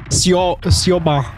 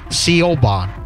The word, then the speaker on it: Siobhan: Siobhan. Yeah, she's like, that's how you... I didn't know that's how you pronounced it. I thought it was like... Siobhan or something like that.